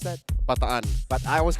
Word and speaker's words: Bataan: How do you pronounce that? Bataan.